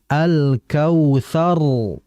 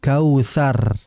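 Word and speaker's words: الكوثر: r-nya itu dibaca tebal maka dibaca Kautsar bukan Kautsar kalau Kautsar maka posisi pangkal lidahnya masih datar jadi caranya diangkat lagi dinaikkan ya alkautsar bukan kautar kemudian juga tadi wanhar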